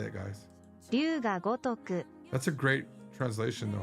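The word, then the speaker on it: Ryu ga Gotoku: Ryuga Gotoku. Ryuga Gotoku is how you say it, guys. Ryuga Gotoku.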